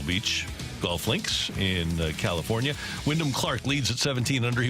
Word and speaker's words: Wyndham Clark: Say his name the right way. Wyndham Clark. Thank you. That's the right way to say it. Wyndham.